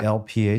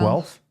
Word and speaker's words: Guelph: Do you know Ian Duncan at the University of, how do you pronounce Guelph? Guelph? Yep, Is it Guelph? Guelph?